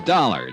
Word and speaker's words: Dollar: It's dollar. Johnny dollar. Dollar. Huh? Yeah. It rhymes with color.